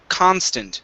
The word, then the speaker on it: constant: the word constant so our stress is at the very beginning of the word instead of constant okay it's constant try that there you